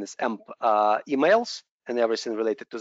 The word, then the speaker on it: AMP: The proper pronunciation is AMP emails and everything related to this.